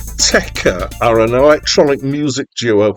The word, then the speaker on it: Autechre: I'm using the pronunciation Autechre because apparently that's what they use. But apparently you're allowed to pronounce it however you like. They say it's open to interpretation.